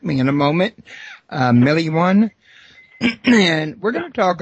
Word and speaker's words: Milione: It's, yeah, you pronounce it Milione. Milione.